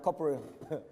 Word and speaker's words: corporeal: I said corporal, it's sergeant. One of the most corporeal, that's right, corporeal.